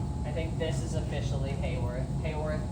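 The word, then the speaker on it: Haworth: think this is officially Hayworth Hayworth doesn't have a y but it's pronounced like we all wish it did through the presence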